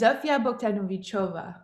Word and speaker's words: Zofia: that the correct pronunciation it's a hard one it's uh it's zofia okay what's happening and I